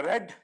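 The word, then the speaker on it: read: right answer is ಐ ಇದನ್ನ ಉಚ್ಚಾರ ಮಾಡಬೇಕಾದರೆ ರೆಡ್ ಐ ರೆಡ್ ದಿಸ್ ಎಲ್ಲಾ ಸರಿ ಆದ್ಮೇಲೆ ಎರರ್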